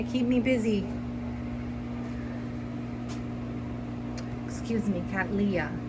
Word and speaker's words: cattleya: me busy excuse me cat leah right i've been pronouncing it wrong all along i will try to